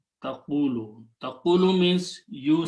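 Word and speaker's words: تقولوا: with a fatha, so we adjust the sound of these two, and we move the sukoon on the waw and the sound of waw on the qaf. So this final word becomes taqulu. It's pronounced as taqulu.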